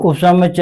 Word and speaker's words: उपसमुच्चय: अब उपसमुच्चय है तो ऊ नहीं निकलता इसमें कई बार। अब जोर लगा के बोलेंगे उपसमुच्चय, उपसमुच्चय बोलेंगे, और जल्दी बोलेंगे उपसमुच्चय, तो ऊ क्या है?